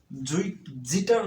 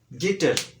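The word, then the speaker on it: guitar: জি সমান সমান গ জি এর পর এ ও ইউ থাকলে সর্বদা গ এর মত উচ্চারণ হয় যেমন গেইম গ আছে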